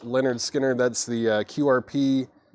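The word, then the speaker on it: Lynyrd Skynyrd: skard info the Skinner that's pronounced Leonard Skinner that's the qrp 2 LP from the original Master tapes heavyweight vinyl um yeah new and sealed $ 64.99 on Leonard skinnard then we had Dolly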